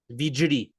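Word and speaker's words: વીજળી: Vijdi.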